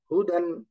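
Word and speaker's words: هدى: দা হা দম্মা হু দাল ফাতহা তাইন দান হুদান হুদান উচ্চারণ হবে হুদান হুদান আল্লাহু আকবার একই রকম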